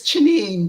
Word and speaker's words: Chineme: Yeah, it's Chineme, just two syllables.